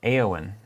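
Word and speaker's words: Éowyn: Also, apparently it's pronounced Eowyn. Eowyn instead of Eowyn.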